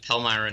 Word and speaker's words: Palmyra: palmyra is that how you say it yeah palmyra new york yo palmyra new york and that's